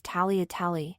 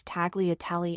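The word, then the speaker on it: tagliatelle: they are in Italian the proper Italian way to say tag T tell is tally Itali except everyone in my school says tagali instead the proper Italian way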